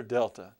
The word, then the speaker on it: Delta: bomb fuse or something but that's the letter Delta that's the letter Delta okay practice a few